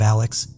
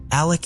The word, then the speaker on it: Alec: in my last covering it appears that he pronounces his name as Alec instead of Alex but I wasn't really